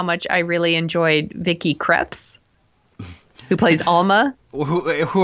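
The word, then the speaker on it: Krieps: I really enjoyed Vicky crepes who plays Alma who her name I'm sure it's crepes but it's it looks like it's spelled crimes Christ I I liked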